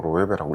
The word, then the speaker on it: Loewe: 로에베를 처음 접한 사람 LOEWE를 처음 읽는 사람은 똑바로 로에베라고 읽을 수가 없어요 왜냐하면 스페인어니까요 로에베라는 브랜드가 있다는데 백화점에